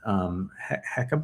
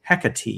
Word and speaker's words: Hecate: And so, and I'm sure that may not have anything to do with Hecate. What is it? Hecate. I'm pretty sure that's how you pronounce it.